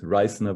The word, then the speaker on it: Reisner: My name actually is very similar to Eisner. It's just an R in front. Reisner would be the correct pronunciation.